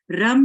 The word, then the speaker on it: रम: अब हम करेंगे इसके बीज मंत्र रम का उच्चारण। रा को छोटा बोलेंगे, अम को लंबा बोलेंगे और इस माँ के